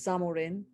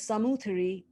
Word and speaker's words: Zamorin: on the left depicts the samuthari the anglicized pronunciation of that is the zamorin welcoming vasco da gama so the samuthari painted on the right